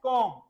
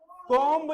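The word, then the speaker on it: comb: में इसे बोलते हैं कोम कोम नहीं बोलना पूरा कोम कोम कोम कोम बी की बहुत हल्की सी साउंड आएगी बेटा कोम कोम और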